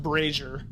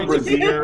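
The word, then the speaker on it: brazier: pay for I think it's I think it's pronounced brazer brazer yeah braer yeah not a braier a braier is something else more than welcome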